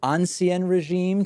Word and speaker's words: ancien régime: in Europe from the and I hope I'm pronouncing it correctly the ancien régime to the present days is that how it said that's perfect good ok all right